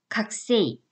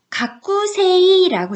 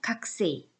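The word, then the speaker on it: 学生: 각 쎄이 칵스 있느 가꾸 3 이라고 적혀 있잖아요 그런데 이거는 발음은 요 각 구에서 꼴을 좀 약하게 발음 이에요 그래서 가꾸 3이 보다는 살짝 그냥 각 쎄이 각 쎄이 이 정도에요 아 그래서 이 군자가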